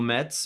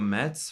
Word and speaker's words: Metz: to this YouTube channel I'm Metz or Mets for those of you that can pronounce my name in French and I'm a guitarist